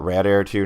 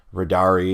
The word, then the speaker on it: radare2: two different things um I prefer to call it Rad Air 2 now because or just rad a because it's simpler to say radari is actually three syllables um but I used